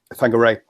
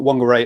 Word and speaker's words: Whangarei: a stop on the way up to um whangarei um and and just again another little thing